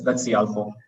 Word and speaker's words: Cialfo: That's CIALFO.